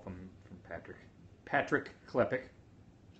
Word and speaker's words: Klepek: right waiting for the call from Patrick Patrick klepick that's how you pronounce his name I'm gonna try to get